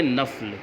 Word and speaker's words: نفل: سنت تو تقریباً تلفظ یہ درست رہتا ہے، لیکن نفل کے بارے میں تلفظ مختلف ملیں گے آپ کو، کوئی نفل بولتا ہے، کوئی نفل بولتا ہے، کوئی اور کچھ بولتا ہے۔ یہ اصل میں جو صحیح تلفظ ہے وہ ہے نفل۔ کیا تلفظ ہے؟ نفل۔ تو کتب فقہ میں